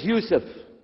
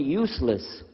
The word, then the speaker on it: Yusuf: work on it inah my name is Yousef did you say Yousef said Yousef you're very good I wish you teach my wife she keeps mispronouncing it she calls me useless alhamdulillah now how many